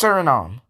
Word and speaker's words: Suriname: Paraguay, Uruguay, Suriname, and It's pronounced Suriname.